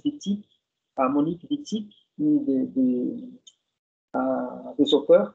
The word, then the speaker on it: Wittig: Et il y a Wittig, ou je vais prononcer à la française Wittig, Monique Wittig, une des auteurs qu'on va discuter aujourd'hui.